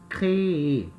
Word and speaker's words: créer: E a pronúncia, eu pronuncio cada uma das letras, das vogais I. Créer, ok?